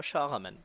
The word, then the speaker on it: Shahraman: roi de Perse, Shahraman, je sais pas si j'ai bien prononcé, Si, c'est ça, Shahraman.